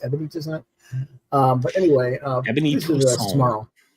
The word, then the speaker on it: Toussaint: I think it's Ebony Toussaint. But anyway, Ebony Toussaint tomorrow. Yes, not a croissant. No, I believe it's pronounced Toussaint.